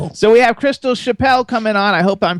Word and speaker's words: Chappell: That's how I would pronounce it. Chapperel.